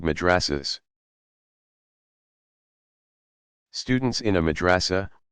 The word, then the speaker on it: madrasa: Students in a madrasa, pronounced madrasa, pursue a curriculum built around the teaching